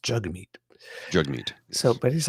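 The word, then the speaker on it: Jagmeet: And I make the the mistake often because I'm reading from notes, but it's pronounced jug meat. Jug meat. So, but he's like you said like he actually said jack meat, which sounds like a lot like jack meat, right?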